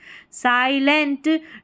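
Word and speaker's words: silent: नहीं पढ़ना है साई एल इ एन टी लेंट साइलेंट ड्यू इसको डी यू को ड्यू नहीं पढ़ना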